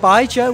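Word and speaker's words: baijiu: Believe it or not, Bai Zhou, which is the drink. So to remember how to pronounce the name, you think of Bai and then the name Zhou.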